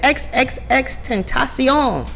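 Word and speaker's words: XXXTentacion: know they announce each song and she said X X X 10 ASEAN and I was like oh is he Spanish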